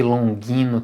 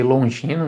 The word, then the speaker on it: Longino: vai chamar de Longuinho tem gente que vai chamar de longe no Eu já vi as duas pronúncias Particularmente eu prefiro chamar de longe no né tenho preferido assim porque afinal de contas existissem o depois dele em língua portuguesa soar como Longuinho fica estranho né é este é na